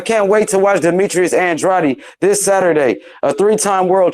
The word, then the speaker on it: Andrade: He's the only person that I know that pronounces Andrade's name the right way. It's Andrade. I pronounce it right too. I say Andrade.